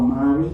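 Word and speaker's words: Māori: And a compelling case is the restoration of native forest in New Zealand where Maui le programs Maui or Mari when I was in Victoria University of Wellington they pronounced as Mari Mariled programs have shown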